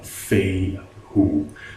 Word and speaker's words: Fehu: 8:1 pronounces it as feign who saw the first part would be like Faye as faithful as in fairings the second part would be pronounced as the word who who get it I